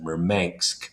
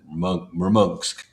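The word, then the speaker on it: Murmansk: Mermong, which is spelled murm k. You would pronounce it merman, but Russians per pronounce it merong.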